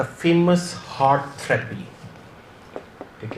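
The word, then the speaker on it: HAART: जो मेडिकेशंस हैं उसमें आपने याद रखना है we have the famous हार्ट therapy.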